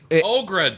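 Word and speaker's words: Aughra: It was um Ogra. Dark Crystal. Oh no But it's spelled A U G H R A.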